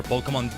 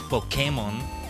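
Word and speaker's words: Pokémon: But no, it's because it's to clarify that it's not Pokemon. Pokemon, you know, poke like poking you with a stick.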